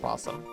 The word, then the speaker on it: opossum: You've always written opossum and pronounced possum.